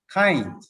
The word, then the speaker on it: Cainz: like to explain the name of our company kind even though the name of our company is spared c-a-i-n-z it is pronounced kind derived from kindness we changed the